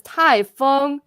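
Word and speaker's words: 台风: but it's i was wondering so um it's pronounced as tai fung and it's typhoon or hurricane so and i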